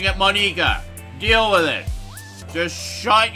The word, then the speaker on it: Monika: ] for pronouncing it that way so i'm pronouncing it monika deal with it just shut your face here